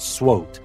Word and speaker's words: SWOT: about the SWOT analysis or S SW analysis which is usually pronounced SWOT analysis now we will learn